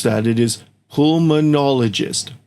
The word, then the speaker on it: pulmonologist: To pronounce that it is pulmonologist. Pulmonologist.